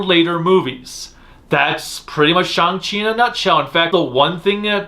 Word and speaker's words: Shang-Chi: i hear it as shanghi makes far more sense given that there's always the long a in the asian cultures with their names and words and everything being that